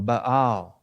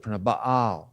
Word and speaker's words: Baal: Baal is really Baal is the way it's pronounced more appropriately.